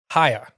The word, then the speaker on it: Ohio: They say Ohio, Hia. Right, yeah. They pronounce it with no O's.